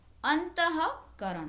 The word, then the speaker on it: अंतःकरण: है करो है तो इसका उच्चारण इस तरह से किया जाएगा अंतः करण यानि विसर्ग का उच्चारण होता अंतःकरण प्रातः और इन शब्दों